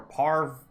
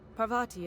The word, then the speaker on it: Parvati: complete a quest for Bharti her birdie or par or vadi don't pronounce a word correctly I didn't think you just Parvati is it that's a lovely name what can